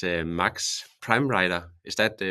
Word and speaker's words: Pramreiter: It's Max Pramreiter. Is that pronounced Yeah, correct, I would say Max?